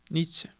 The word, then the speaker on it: Nietzsche: ¿Sí se pronuncia así? Nietzsche. Nietzsche, ok.